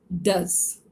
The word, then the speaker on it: does: The third word here is does, DOES. If it rhymes with fuss, then it means it is the form of do, which is a helping verb.